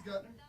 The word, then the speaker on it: Guttner: You know, it's Guttner. Guttner. And it's just a weird name.